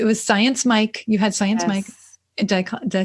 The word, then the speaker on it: Science Mike: You had Science Mike.